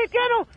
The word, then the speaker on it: haitiano: haitian al más haitiano se dice haitiano a ver Cántame el